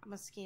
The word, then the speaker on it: Moschino: I've also heard that it's pronounced Moschino.